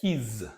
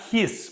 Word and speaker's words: he's: But the most important thing about it that it is pronounced as his, not his, because his, it's a sound that the snake makes, right? Like his, right? So it's his, okay?